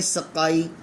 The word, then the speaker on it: سقائی: امت مسلمہ۔ درج ذیل الفاظ پر اعراب لگا کر تلفظ واضح کریں۔ دیکھیں، سقائی، سین کے اوپر زبر، قاف کے اوپر شد اور زبر، اور حمزہ کے نیچے زیر۔ سقائی، خاکستر، خا کے اوپر